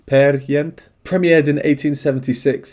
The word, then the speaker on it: Peer Gynt: It was written for Ibsen's play Peer Gynt, or to try and pronounce it correctly, Per Gynt.